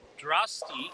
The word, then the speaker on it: Drasty: Uh, Drasty like Frosty.